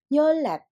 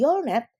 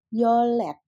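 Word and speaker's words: 열넷: yolul 13 yolset 14 yolet walaupun tulisannya yolnet tetapi ketika bacim R bertemu dengan Nien maka akan menjadi dibacanya bukan lagi yolnet tetapi menjadi yolet 15 yoldasot 16 Yol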